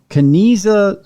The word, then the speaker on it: Kanizsa: A well-studied example of this is such completion is the Kaniza square. There, it's spelled Kanizsa square.